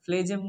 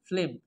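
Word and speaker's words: phlegm: আমরা আগের ক্লাসে বলেছিলাম যে সমস্ত কাশির সাথে স্পুটাম বা মিউকাস, মিউকাস বা ফ্লেজেম, ফ্লেম, হ্যাঁ ফ্লেজেম না ফ্লেম, এই তিনটার একটা যেটাই বলেন সঠিক হবে।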